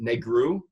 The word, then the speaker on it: negru: guy out yes and black in Romanian is pronounced negru so the there was